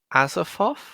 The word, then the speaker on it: Azathoth: Well, he's put at, hopefully I pronounce this right, Azathoth? Azathoth, yeah. Oh, goodness. The blind Azathoth. Azathoth. No. You said it right the first time.